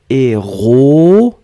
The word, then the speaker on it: héroïquement: La petite particularité ici, c'est le tréma sur le i. Et c'est pour ça que vous prononcez héroïquement. Hein? Le tréma sur le i vous fait une sorte de division entre le o et le i. Vous ne prononcez pas wa, mais le tréma va diviser. O, i. Héroïquement.